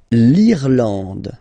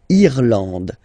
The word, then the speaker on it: Irlande: Then l'Irlande. Remember, this is E, and it should be pronounced like E. Irlande. Irlande. Okay, A-N, en, D, and final E, not pronounced.